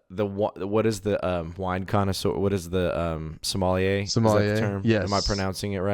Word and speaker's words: sommelier: What is the sommelier? Sommelier. Is that the term? Yes. Am I pronouncing it right?